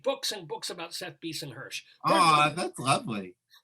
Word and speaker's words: Bisen-Hersh: and books about seth beason-hirsch oh that's lovely am i getting your name pronounced correctly yeah beast and hersh that was correct that time so beeson beason yeah